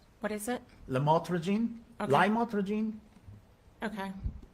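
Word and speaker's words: lamotrigine: prescribed medication and I'll try my best to pronounce it correctly Lam motene did I say it right what is it lrene lrene okay it's a serious medication isn't it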